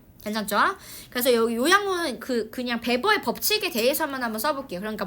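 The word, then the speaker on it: Weber: 그래서 W가 B로 발음이 되는 겁니다. 괜찮죠? 그래서 여기 요약문은 그냥 베버의 법칙에 대해서만 한번 써볼게요.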